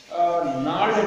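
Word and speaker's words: gnarled: क्या है, stunted with नार्ड disease. नार्ड इसको प्रोनाउंसिएशन में जी साइलेंट रहता है, ठीक है, आर साइलेंट रहता है, और इधर नार्ड डिजीज।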